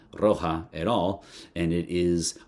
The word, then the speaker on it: Roja: it is, I'm assuming, a way to make sure that we pronounce Roger with an English accent, because that would be, I think, Roja, not Roja, Roja.